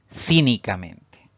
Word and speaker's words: cínicamente: esta palabra una sobreesdrújula cínicamente igual esta palabra tiene cinco sílabas y fíjense que la mayor fuerza de voz al pronunciarla cae en la sílaba siguiente a